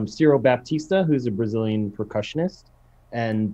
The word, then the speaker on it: Ciro Baptista: It's Ciro Baptista, who's a Brazilian percussionist, and Baba Mal, who's an African performer.